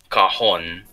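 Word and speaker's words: cajón: Well, if you've ever heard of a cajon box, Cajun it's box. actually a very the correct pronunciation is cajon, which is actually a very cheap alternative to a drum.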